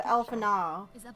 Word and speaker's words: Alphinaud: I'm just saying, Alphinaud, if I'm saying his name wrong, because Minfilia said it different. She said Alphinaud, now, without the D.